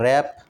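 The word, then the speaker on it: wrap: इसके बाद रैप। रैप में भी डब्ल्यू साइलेंट है।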